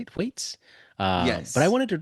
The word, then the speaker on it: Thwaites: Thwaites.